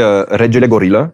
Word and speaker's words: Regelegorilla: Euh alors la vraie prononciation c'est en fait c'est du roumain donc c'est regel gorilla qui veut dire le roi des gorilles.